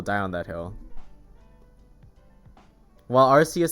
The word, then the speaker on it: Arceus: Is it pronounced Arceus? No, Arceus. That Pokemon in Sun and Moon, the type Null who turns into Silvally, his ability is the RKS system. It's a K, so it's Arceus, y'all.